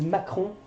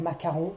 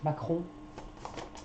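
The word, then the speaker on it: Macron: is Emanuel maon yeah so his name is maon okay not macaron okay so please don't pronounce uh maon yes maon and uh Marine Len so Marine Len so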